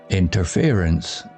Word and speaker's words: interference: Interference sounds like interference, stress on fear.